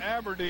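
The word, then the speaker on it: Aberdeen: And let me say it again. Aberdine. I've been mispronouncing it for about two years.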